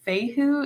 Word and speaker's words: Fehu: This is, I think you pronounce it Fehu.